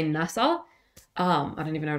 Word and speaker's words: NASA: it's a pronounceable word you don't say n AA you say NASA um I don't even